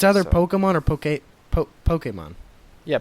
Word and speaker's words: Pokemon: wrong we established that it's Pokemon not poem Pokemon poke it's Pokemon um no it's Pokemon that's what the little is above the E for poke Pokemon that doesn't exist in